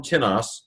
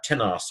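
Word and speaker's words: τίνος: Notice we have the same form tenos, very interesting here, but with the accent on the first syllable, it's an interrogative pronoun.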